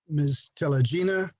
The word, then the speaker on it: Telegina: So with that said, petitioner, Ms. Telegina, do I pronounce it? Exactly, Honor. That's correct.